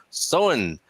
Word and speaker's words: Samhain: marty um don saying samhain gaelic festival pronounced so in if i got that right so in um sound